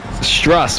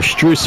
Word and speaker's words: Strus: Stress with a jump shot. That is good. Or Max Strus, I should say. I've been saying his name wrong the entire time.